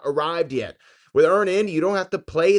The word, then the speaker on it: EarnIn: That's Earn In spelled like earning money without the G.